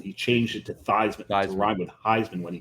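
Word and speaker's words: Theismann: ended his career thean thean supposed to be pronounced thesman he changed it to thyman RH with Heisman when he got into college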